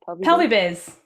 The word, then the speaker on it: Pelvibiz: Pelvibiz.